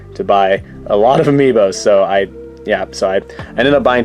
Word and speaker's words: Amiibo: I believe the technical correct way to say it is Amiibo, like plural. Like Amiibo is already plural. You don't have to say Amiibos, but I still do